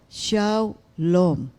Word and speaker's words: shalom: na ah ito pala shalom shaom. This is how you should pronounce it according to strong concordance.